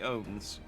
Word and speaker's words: ons: which is interesting, because I've been pronouncing it ounce. I just figured it was like an old spelling for ounce, but it's apparently owns.